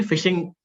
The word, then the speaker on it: phishing: तो basically फिशिंग मतलब spelling है PHISHING, बट it's actually फिशिंग, the normal fish.